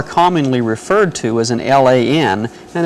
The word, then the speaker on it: LAN: referred to as an Lan and it's pronounced Lan so when you hear